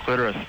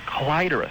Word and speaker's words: clitoris: Listen, when you look at a dictionary, sometimes it will have a couple of pronunciations listed. Yes. The first is always preferred. Oh, interesting. Nice. Yeah, and in the New World, Webster's New World Yeah, Dictionary, clitoris is the first one.